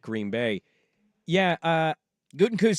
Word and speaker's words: Gutekunst: Yeah, Gutekunst says they're close. Isn't that how you say his name? Their GM? Yeah, Brian Gutekunst.